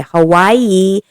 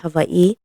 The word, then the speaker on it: Hawaii: that's the proper way Hawaii is the Caucasian way of saying Havi it is pronounced Havi hav um you know